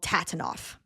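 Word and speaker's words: TATINOF: you know, this fandom, no fandom in the world loves an acronym more than them and pronouncing the acronym phonetically. So the book is called Tabanoff and the tour is called Tatanoff.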